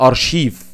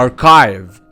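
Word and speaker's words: archive: خلي بالك بقى من الكلمة دي عشان انت بتنطقها غلط، اللي احنا بنقول عليها ارشيف، لا هي اسمها اركايف، اسمها اركايف. اوعى تنطقها تاني ارشيف، انساها من ايه، من حياتك.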